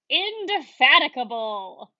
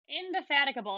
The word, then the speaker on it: indefatigable: good followed by the pronunciation this word is pronounced indefatigable indefatigable it's one of these kind of big words